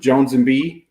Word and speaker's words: Joanz & B3E: singles everywhere everywhere under Jones and be just like social handle everything j o n z b3e not pronounced B3 it's Jones and B but b3e is how